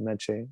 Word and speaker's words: Mece: yeah um so last name m-e-c menchie you can find me you have to pass